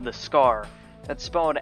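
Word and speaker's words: Skaarj: the scar that spawned s-k-a-a-r-j but it's just pronounced scar don't let anyone tell you otherwise it's it's not Scourge I or skirt or what whatever other people are calling it's ridiculous despite having a semi-tribalistic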